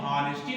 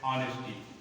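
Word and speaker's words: honesty: यच, इसको हम हावर नहीं पढ़ते, इसको हम हॉनरेबल नहीं पढ़ते हैं, इसको हम हॉनेस्टी नहीं पढ़ते हैं, इसको पढ़ते हैं आवर। इसका उच्चारण है आवर, आवर। इसका उच्चारण क्या है? Honourable, honourable. और इसका उच्चारण है ऑनेस्टी।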